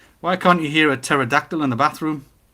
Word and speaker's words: pterodactyl: can't you hear a pterodactyl in the bathroom because it has a silent p is it spelled with